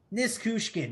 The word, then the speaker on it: Nichushkin: Nichushkin.